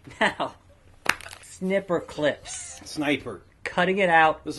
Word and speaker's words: Snipperclips: Snipperclips. Snipperclips. Snip. Not snipe. Snip.